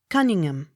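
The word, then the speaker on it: Conyngham: h o u n cahoon accent on last syllable c o n y n h a m cunningham c o u t t s coots c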